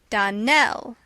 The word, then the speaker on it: Darnell: would set it right darnell accent on the last syllable and saint clair on